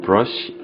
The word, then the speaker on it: brush: 여기서는 여러분들이 싫어하시는 R 발음이 들어가 있고 여기는 L 발음이 들어가 있습니다.